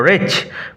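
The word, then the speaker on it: wretch: পর ওল্ড রেচ উচ্চারণ লক্ষ্য করো। রেচ বেচারা বুড়ো মানুষটা।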